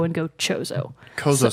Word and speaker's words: Chozo: i have heard them called this race the chozo so it's spelled CH 0 0 I have never said